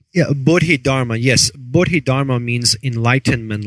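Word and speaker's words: Bodhidharma: boded Hara am I saying it right yeah boded Dharma yes bdid Dharma means Enlightenment law and it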